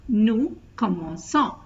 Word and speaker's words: commençons: So if you put a cedille below the C, then it's pronounced as S. It has a sound before these vowels A, O and U. So to pronounce as commençant instead of commençant, you add the accent cedille to the C, so it becomes nous commençons.